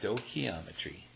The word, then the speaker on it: stoichiometry: a video called stochiometry that's pronounced stochiometry stochiometry from mole to mole